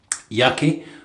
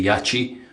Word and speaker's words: Yaqi: Um, yeah, I got some new soaps from Yaki, which is how I've always pronounced it. Some people pronounce it the correct way and say yachi, but I like to